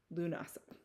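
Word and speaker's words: Lughnasadh: right there it's it looks really intimidating it's pronounced lunasa it's a Celtic term so this is why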